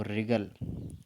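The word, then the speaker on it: wriggle: आगे देखो रिगल, डब्ल्यू यहाँ पर साइलेंट है, ठीक है।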